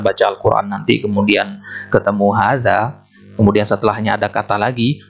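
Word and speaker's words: هذا: apa pengecualiannya pengecualiannya bahwasanya Haza itu walaupun nulisnya seperti ini nah di tulisan seperti ini harga nya di tulisan seperti ini tapi di pengucapan itu seolah-olah di sini ada Alif kita tambahkan hari jadi bacanya begini Hahaha Dah dua-duanya panjang Hai Kak ini dalam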